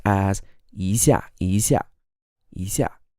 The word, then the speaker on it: 一下: change rules in Chinese this is actually pronounced as a second tone plus a fourth tone so it's not easier when you actually say it it's pronounced as easier easier easier like a